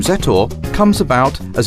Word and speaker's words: Zetor: 20th century the name set or comes about as a combination of zet the way the letter Z is pronounced in check and the